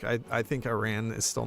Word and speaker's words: Iran: Iran's just still, or everyone after I made my Iran video, they were like, "You must pronounce it Iran. It's not Iran."